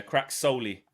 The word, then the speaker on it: CRKSOLY: Is that how you say it? Because I thought it was Crack. Yeah, Crack Solely.